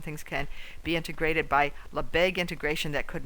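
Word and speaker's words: Lebesgue: I wrote here how to pronounce it, Lebeque.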